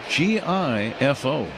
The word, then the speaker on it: Rengifo: I don't think I've covered a Rengifo. Rengifo. G is silent.